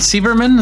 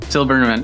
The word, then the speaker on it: Silberman: Is it Sieberman? Is that how you pronounce it? Silberman.